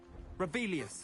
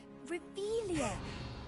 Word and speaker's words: Revelio: Revelius. Saying it wrong. Ugh, Revelia. Much better.